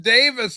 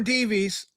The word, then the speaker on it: Davis: It's pronounced Davis, Ann B.